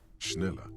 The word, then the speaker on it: Schneller: Schneller is a stationery brand from Gottwald, beloved among architects and engineers.